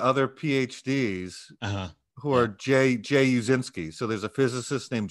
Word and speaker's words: Uscinski: So how do you, can you help us out with the pronunciation? It's Uscinski. Uscinski.